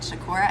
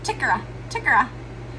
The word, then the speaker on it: Shakora: I'm from a small little town called Shakora, and she calls it, let me think about this. I think she calls it Chickara.